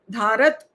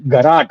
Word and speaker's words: घराट: धारत नहीं, घराट, घराट।